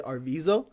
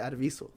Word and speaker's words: Arviso: I was saying DJ Arviso, but now I'm trying to say DJ Arviso. Yeah. It's Yeah, Arviso.